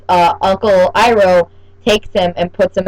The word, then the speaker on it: Iroh: Iroh was Oro.